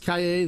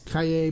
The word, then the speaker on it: Calle: Trace uh it's pronounced Cay the two L's in Spanish is pronounced as a y so it is Cay B trace or Cay 23 so she saw